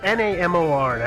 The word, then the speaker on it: Namor: Does either of you know how to pronounce the Submariner's name? It's Namor.